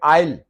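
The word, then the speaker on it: aisle: को उसको कहते हैं आयल। आयल एस साइलेंट है और ये आइलैंड है, बिल्कुल जजीरा आइलैंड, एस साइलेंट है।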